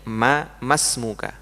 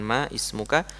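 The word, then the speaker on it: ما اسمك: Jadi bacanya ma masmuka bukan ma ismuka.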